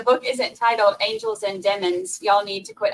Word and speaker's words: Demons: from everything I've heard you have to do the lemons and demons 100 times in order to say it right yeah me too I've